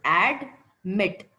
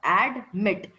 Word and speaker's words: admit: Admit. Add is one sound, mit is another sound. Admit.